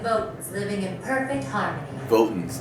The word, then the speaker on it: Votans: Votans, that's how you say it.